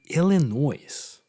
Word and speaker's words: Illinois: I mean, Without the S. on Wikipedia it's with the S, so I think it's pronounced as Illinois.